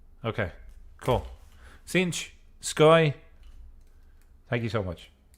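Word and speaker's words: Sench: if I was to spell it I would spell it s e n c h cinch okay cool cinch sky thank you so much it's interesting if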